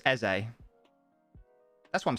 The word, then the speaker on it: Eze: It's pronounced Eze. That's what I'm saying, isn't it? But isn't it pronounced Eze?